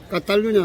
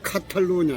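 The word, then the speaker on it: Cataluña: 이 예를 들면 까탈루냐잖아요. 까탈루냐, 까로, 이 까로 이러면 이게 CA인데 이게 카가 아닙니다. 까예요 발음이.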